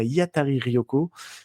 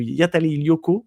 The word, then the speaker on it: Hiatari Ryoko: d'aller d'aller décou découvrir Yatari Rioko ou Yatari Lyoko. Dit, il faut pas trop prononcer le R. Normalement, si on prononce à la à la japonaise.